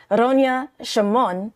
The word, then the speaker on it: Ronya Shimon: Her name is Ronya Shimon. Oh, look at you doing it the Chaldean way. That's how you pronounce it.